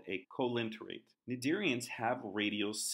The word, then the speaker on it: Cnidaria: gonna move into phylum Cnidaria remember we do not pronounce the C nadir Ian's include jellyfish